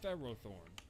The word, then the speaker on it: Ferrothorn: Pharisee oh sure also why do official sources including the anime the raw Thorn when Ferris would imply its name should emphasize the first syllable Ferrothorn I love clink is